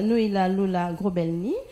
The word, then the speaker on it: Noëlla Lola Grobelny: Il s'agit de madame Noëlla Lola Grobelny. Madame, bienvenue. Bienvenue, merci madame. J'ai pas massacré votre nom. Hein? Non, vous le prononcez très bien.